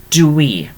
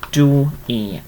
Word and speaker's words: dwi: say Meithrin dwi.